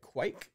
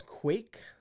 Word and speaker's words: kveik: word but that said some Norwegians I spoke with didn't seem to say the V sound as much and their pronunciation sounded more like quite quite another way was quake sort of like earthquake you can hear that